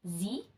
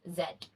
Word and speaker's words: Z: the alphabet to which Americans pronounce as Z but Canadians pronounce it as Zed in its historical context